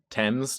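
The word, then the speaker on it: Thames: Uh, spell river tames, right? Yeah, temps. Do they I think they pronounce it temps and it's like t h a m- e- s.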